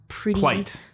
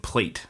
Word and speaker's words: plight: I thought you said plate, and I was like... Yeah, plight. Plight of the individual. Now I'm worried I mispronounced it. Oh, well. You all know what I meant. No, it's fine. I think the first time you said plate, like Plate, and I was like, what? Yeah, you said it right the second time.